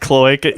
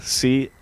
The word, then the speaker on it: cloaca: I just pronounce the O-A like that, cloaca.